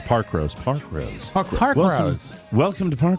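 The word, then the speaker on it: Parkrose: Pack Rose in Portland, Oregon, too. They don't say it like that. It's Park Rose.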